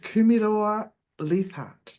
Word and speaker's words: Kumeroa-Leathart: Today I have the pleasure of chatting with Marguerite, sorry, I was going to call you Marguerite Kumeroa-Leathart. Did I pronounce that correctly?